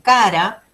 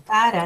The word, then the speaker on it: Chara: Es así que si nos vamos hacia la izquierda tenemos plantas que viven totalmente sumergidas, como cara, se escribe chara, pero es cara, ¿no?